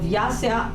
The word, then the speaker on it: Vyasa: anyway guys according to tradition um the the vyasa is the compiler of The Vedas yeah I was using there was no water so there is one so it's spelled v-y-a-s-a vyasa I'm saying right yes so this is